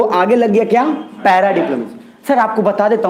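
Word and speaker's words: paradiplomacy: Para डिप्लोमेसी, सर इसको पारा मत बोलिएगा, पैरा डिप्लोमेसी बोलिएगा, कोई तकलीफ नहीं है।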